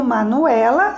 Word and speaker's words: Manuela: Então, o Manuela, a letra E, ela está na penúltima sílaba.